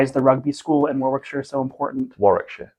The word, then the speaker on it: Warwickshire: the rugby school and Warwickshire so important Warwickshire Warwickshire Warwick it says Warwick yeah but you don't pronounce the middle of this world you know why that's